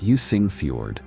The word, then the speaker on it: Jøssingfjord: Jøssingfjord, pronounced Jøssingfjord.